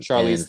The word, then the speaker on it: Charlize: But even Charlie Theron, or how do you say her last name? Charlize Theron.